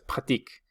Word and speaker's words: pratique: E, ni la ES, ni la ENT se pronuncian. Entonces para je es pratique, para tu pratique, para il, elle pratique y para il, elle plural pratique. Se van a pronunciar exactamente igual los tres primeros y el último.